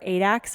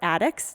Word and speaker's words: addax: The eland antelope are Adax or Addax, depending on where you're from. It is pronounced a little bit differently.